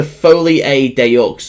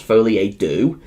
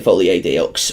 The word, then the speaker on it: Folie à Deux: Joker Folie à Deux, or I think it's actually pronounced Folie à Deux. But whatever, I just like saying Foley AD Ux, but some people just